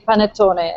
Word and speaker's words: panettone: Daniela can tell that, pronounce that better than I do. Maybe you explain, Daniela. It's definitely panettone and prosecco.